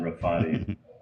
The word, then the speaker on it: Rafati: Shahrzad Rafati.